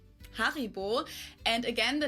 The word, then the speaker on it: Haribo: We pronounce it Haribo. Haribo.